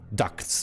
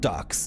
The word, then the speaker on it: ducts: So ducts, by the way, D-U-C-T-S. Did I spell that correctly? Not ducks, not quack quack quack ducks. I mean ducts. D-U-C-T-S. So when the guy started